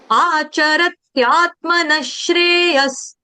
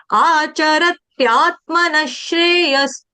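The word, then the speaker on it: आचरत्यात्मनः श्रेयस्: अब अगला चरण देखेंगे, यानी चरण नंबर 3, आचरत्यात्मनस्, आचरत्यात्मनश्रेयस, आचरत्यात्मनश्रेयस, आचरत्यात्, आचरत्, त्यात, र के बाद भी आधे त का टच देना है, उसके आगे या से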